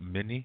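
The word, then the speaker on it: Mni: But it's not mini, it's mini. Yeah, mini, M-N-E. No, M-N-I.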